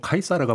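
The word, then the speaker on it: Caesar: 으 가장 대표적인 인물이 우리가 씨저 라고 부르는 1 이우 스카이 쌀입니다 그렇죠 예 그러니까 그 본토 발음은 카이사르가 맞는거 그게 그렇다고 하네요 세태가 팩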